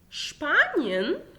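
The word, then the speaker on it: Spanien: شبانيون، شبانيون يعني اسبانيا، تمام.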